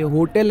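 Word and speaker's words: hotel: क्या बैठेगा ए बैठेगा क्योंकि होटल का तो एच साउंड आ रहा है एच यहां पर आ रहा है साउंड साइलेंट नहीं है होटल नहीं है ये होटल है तो इसलिए इसमें ए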